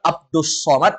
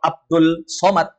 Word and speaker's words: Abdus Somad: alad atau asamad asamad berarti yang benar Abdus Somad atau Abdul Somad Abdus Somad nah ini nanti kita